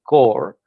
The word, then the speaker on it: Corps: So we created something called the NSF Innovation Core. It's spelled like Peace Corps, CORPS, NSF I-Core program in 2011.